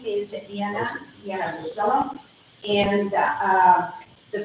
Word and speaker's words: Dijana: The J is pronounced as a yes, so this is why Dijana.